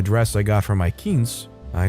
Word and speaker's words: quince: I say, "It's pronounced quince.